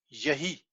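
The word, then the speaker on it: יְהִי: vocal vocal showa because the word yehi and you hear it it's an upside down e sound yahi it's very short let's erase it for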